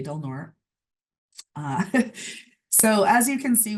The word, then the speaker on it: Del Norte: And the smaller orange county just north of us is Del Norte County, which most people would pronounce that Del Norte. For some reason, we say Del Norte.